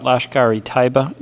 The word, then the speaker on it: Lashkar-e-Taiba: I want to talk a little bit about Lashkar-e-Taiba. Am I pronouncing that right?